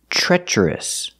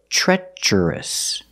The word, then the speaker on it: treacherous: it's an adjective pronunciation treacherous the TR In the Beginning Sounds like the CH sound in chicken sure like in tree and try TR makes the CH sound so treacherous the first vowel is